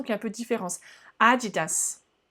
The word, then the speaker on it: adidas: fait il ya une petite et un petit prononciation une petite accentuation qu'il ya peu de différence adidas adidas je te laisse et oui c'est pas haribo